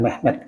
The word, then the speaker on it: Mehmed: Di sana Muhammad itu diucapkan Mehmed gitu.